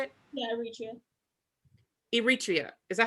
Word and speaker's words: Eritrea: Yeah, Eritrea.